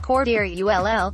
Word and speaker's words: Cordarrelle: New Bear alert, Cordarrelle, pronounced Cordarrelle, Patterson is most valuable as a kickoff returner.